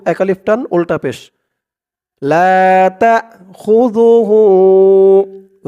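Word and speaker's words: لا تأخذه: আলিফ টান উল্টা পেশ লাতাখুজুহু জালের উচ্চারণটা একদম নরম হবে।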